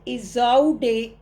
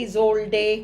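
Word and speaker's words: Isolde: The love of ट्रिस्ट्रान एंड इजौडे, actually इजोल्डे, कई इसके variations हैं नाम के, स्पेलिंग्स में भी वेरिएशंस है अलग अलग जगह।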